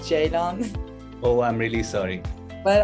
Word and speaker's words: Ceylan: come on stage hi guys hello hi Celine how are you good thanks it's actually pronounced Jadon oh I'm really sorry but I completely understand